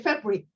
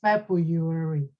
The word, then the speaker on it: February: That word is February. Because I say it so quick, I say February. And you, after the speech, you say, if you don't mind, I would like to say, you don't have to take it, but this is how you pronounce it. You say supposed to be February.